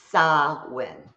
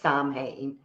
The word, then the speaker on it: Samhain: Samhain is how it's pronounced, even though it looks like it says Samhain.